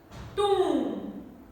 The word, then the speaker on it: tomb: I end my pronunciation with M sound, not B sound. Climb, not climb. Climb. Coom. Crumb. Dumb. Tomb.